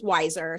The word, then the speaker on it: Weiser: ago, my last name is Weiser, spelled w e i s e r, and my father told me many years ago that I'm never going to win. I'm either People are either going to mispronounce my name or they're going to misspell it. And so, rather than having it misspelled, which it's still done because people think it's spelled w i s e r, I went with the pronunciation.